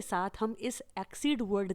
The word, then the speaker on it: exceed: चलिए अब देख लेते हैं दूसरे वर्ड को, जिसका प्रोनाउंसिएशन तो सेम है लेकिन स्पेलिंग और मीनिंग अलग है। जैसे एक्सीड, स्पेलिंग है EXCEED।